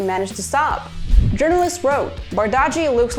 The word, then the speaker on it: Bardghji: First name Ronnie, surname Bardaji.